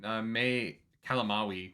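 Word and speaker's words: May Calamawy: Yeah, so I really I thought May Kalamawi, which Google says that's how you pronounce it, so I hope that I finally got it right.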